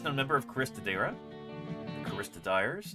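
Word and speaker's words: Choristodere: The Caristodires. I've always heard it pronounced Caristodire, even though that's an E.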